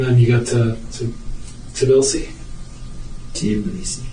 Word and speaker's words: Tbilisi: Tbilisi. Tbilisi.